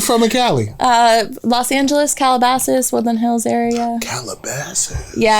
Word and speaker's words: Calabasas: That's what how's it pronounced? So it's Calabasas.